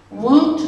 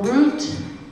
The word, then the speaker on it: wout: would say lee lee woot or root is road remember last week we talked about the w's and the r's so you may see it spelled with the r but it's more of a w sound rich for rich pauv